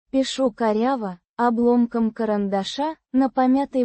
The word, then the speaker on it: Пишу: Пишу коряво, обломком карандаша, на помятой бумаге. Пишу. Means, I write, or, I am writing. Pronounced. Пишу. With the ша. sound as in, ship.